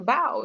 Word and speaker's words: Bao: And the BAU is pronounced bow, like take a bow.